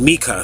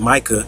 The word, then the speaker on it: Micah: Mika his name is mikah so you read in the Book of Micah some people pronounce it Micah but it's really Mika you reading the book